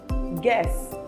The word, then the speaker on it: guess: That letter U is silent when it comes after G and before a vowel in a word. For example, guide, guess, or guard.